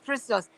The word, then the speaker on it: Christos: that's Greek okay okay he says it's Christos that's what it is it's Christos okay Bill got it he